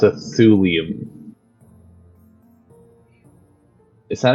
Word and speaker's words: thulium: So it's a thulium. Is that how you pronounce that? They're all actual elements. You shouldn't have a hard time pronouncing them. But yeah, it's thulium.